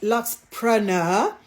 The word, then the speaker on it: Luxpreneur: I've been asked to pronounce it not preneur, but Luxpreneur.